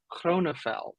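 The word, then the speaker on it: Grönefeld: the correct pronunciation is chronophel it's dutch you gotta have that rolled G no well that's good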